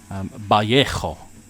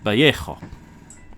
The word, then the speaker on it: Vallejo: So in Spain, the V is pronounced more with a B sound. So B for ball. The L is an L, but if it's a double L, then it's more of a Y, or like a Y.